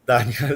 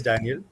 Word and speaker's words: Daniel: So, and one request is my name is Daniel. Please pronounce it like that. Daniel, It done. Absolutely was fine. it's not Daniel, it's Daniel.